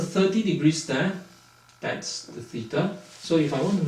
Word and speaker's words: theta: Greece and it's a Greek feta and it's pronounced as theta th e ta theta so we write it like an all